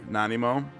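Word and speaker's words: Nanaimo: Uh, you kind of have the the right pronunciation, but make it flow more. Nanimo nanimo. Uh, say it fast and fluid.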